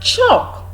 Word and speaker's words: chalk: the love sound is also silent we have chalk chop used to write something but Chuck not